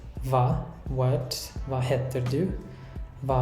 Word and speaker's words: hva: And with all these question words starting with HV, we don't pronounce the H. We write it, but we don't say it. So we say hvor, hva, hvem, hvorfor, når, hvor gammel, hvordan.